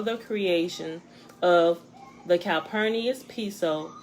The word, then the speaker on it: Piso: the creation of calpurnia's piso pronounced piso it has a spelling p-i-s-o but pronounced p-e-s-o pronounced piso back the new testament the church and christianity were all the creation of the calpernius peso pronounced peso family who